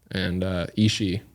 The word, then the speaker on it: Ishi: So yeah, I wanted to kind of talk a little bit about them, and also Ishi. Is that how you pronounce it?